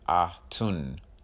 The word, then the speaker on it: Atun: Atun should be pronounced Ah-Tun.